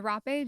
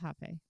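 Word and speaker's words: rapé: And the rape just it's also basically pronounced hape, right?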